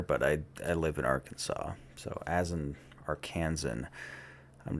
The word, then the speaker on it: Arkansas: Um why is the state pronounced Arkansas and not like our Kansas or something like that? because it kind of like what what language is it that that knocks off the S on the end?